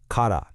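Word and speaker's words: から: And the answer to that question we just asked, it lies in this single really powerful particle, kada, pronounced kada.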